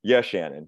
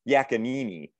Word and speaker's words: Yachanin: So it's Yachanin, but I think my favorite mispronunciation I ever got was Yachanini.